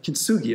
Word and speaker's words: kintsugi: Or kintsugi, I guess it is, the hard G.